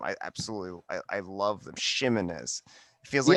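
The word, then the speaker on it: Ximines: It is an SH sound. Shimenez. These are just delicious names once you master them. I absolutely I love them. Shimenez.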